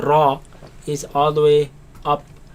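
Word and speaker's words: ر: Ra is sometimes heavy, sometimes light. But here we're going to pronounce it heavy. And with alif, ra, Ra, ra, Ra, ra.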